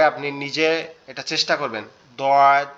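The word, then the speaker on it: ض: আপনি খেয়াল করেন এই দোয়াদ যে হরফটা, এটা হচ্ছে বলা হয়েছে দোয়া- আরবি হরফের যতগুলো অক্ষর আছে তার মধ্যে এটার উচ্চারণ সব থেকে কঠিন।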